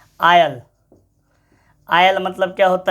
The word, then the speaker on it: isle: ISLAND, maximum पढ़ेगा इसको इजलैंड। अरे भैया इजलैंड नहीं, आइलैंड, द्वीप, ISLE। अब इसको पढ़ेगा इजले, इसले नहीं, नहीं, आयल।